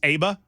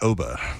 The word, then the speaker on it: ABBA: The Google machine says it's ABBA. No, actually, it's OBA. We've all been saying it wrong.